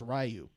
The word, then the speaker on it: Ryu: So, one, Ryu's name is not pronounced fucking Ryu. The Americans, the people making that movie just said Ryu. Like, cause like you read it in the game and you just guess what it is. They all said, hey, we think it's Ryu. It's pronounced Ryu.